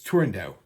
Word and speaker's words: Turandot: right there's nowhere in Toscanini said it was tendo uh it's rumored that Pini pronounced it tendo the first the woman that premiered the role tendo it's not tendot it's not tendot it's tendo let's just get that out of the way